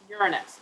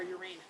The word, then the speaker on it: Uranus: oh how to pronounce uranus or uranus and in the united states both pronunciations are acceptable most people in middle